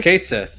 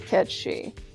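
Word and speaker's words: Cait Sith: Kate Sith it's just Kate Sith it's pronounced Kate Sith in Final Fantasy 7 the actual thing is pronounced Ki yeah it's Katy katchi and the Japanese version they pronounce it ketchi I know that a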